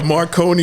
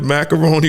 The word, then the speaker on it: Marconi: And then he called the Marconi Award the Macaroni Award.